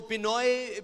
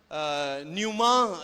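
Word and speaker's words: πνεῦμα: और नए अहदनामा में इसके लिए जो लफ्ज यूज हुआ है वो पिनोए भी कुछ लोग बोलते हैं, और पी साइलेंट हो जाता है, न्यूमा इसके लिए लफ्ज है, और जो इल्मुल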